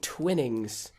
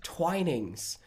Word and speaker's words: Twinings: show we've been saying twinnings it turns out it's not pronounced twinnings it's pronounced twinings it is an Old English pronunciation which is twinings um yeah so sorry